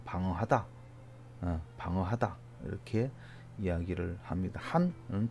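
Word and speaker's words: 寒: 한은 중국 발음으로 한 똑같습니다. 한 똑같습니다.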